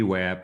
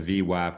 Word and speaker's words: VWAP: Well, the the VWAP or the VWAP depending on how you pronounce it right now for the session is 6 6854 and a half.